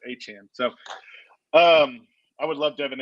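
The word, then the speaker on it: Achane: I'm upset that his name's pronounced Achan because I thought it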